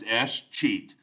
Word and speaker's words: escheat: The third or fourth and final governmental power is this thing called escheat. Escheat. It's pronounced escheat. The way that I look at it is they've escheated you out of it, All right.